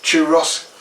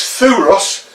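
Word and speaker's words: Thüros: Ross to Ross Tula there are three ways of pronouncing this does Thoreau's the proper British rear Toros which is kind of a different way and then to Ross which I believe is how the Germans pronounce it anyway let's wait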